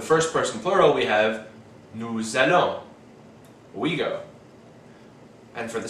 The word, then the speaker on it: nous allons: These two begin with vowels, which means that the S of nous and vous will be pronounced. So for the first person plural we have nous allons, we go.